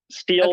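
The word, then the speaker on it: Stihl: gonna say this wrong is it steel is that how you say it yes steel Timber Sports this U.S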